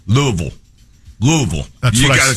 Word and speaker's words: Louisville: Just for those that are thinking it, Pat, just so you know the proper pronunciation, Louisville.